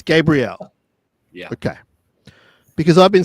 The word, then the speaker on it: Gabriel: But the young guy, even like now, Gary, how do I pronounce our center's last name? Michael Gabriel. It's Gabriel. Yeah. Okay. Because I've been saying Gabriel for some reason.